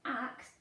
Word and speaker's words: axe: An axe is axe. We don't use that letter very much, do we? We get to use it in this word. Axe. And it's got a silent E on the end.